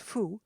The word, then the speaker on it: faut: "Il ne faut," pronounced fou, "pas passer par là."